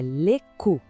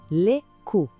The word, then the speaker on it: cou: Começando pelo pescoço, que em francês é le cou. A pronúncia é bem direita, olha só, le cou.